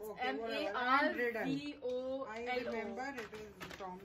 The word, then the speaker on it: Marvolo: No, Marvello. No, it's not Marvello. It's Marvolo. It's okay, M-A-R-V-O-L-O.